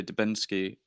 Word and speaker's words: Dubinski: and and what led to the change into dubinsky and Anders that how you pronounce it yeah that is how you pronounce